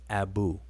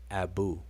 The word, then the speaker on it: Abu: and a elephant determinative but the word is Abu it's pronounced Abu if we were to transliterate it would be